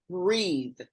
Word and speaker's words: Breethe: I learned of an app called Breathe, and it's spelled Mm. Breethe.